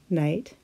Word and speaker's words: night: Sometimes the K is silent when followed by the letter N. KN sounds like na. The silent K is in the words new, night, and not.